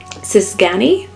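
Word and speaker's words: cigány: g a n y if I were to attempt to pronounce it which I apologize if I do so inaccurately would be the sisani and Jonathan thinks that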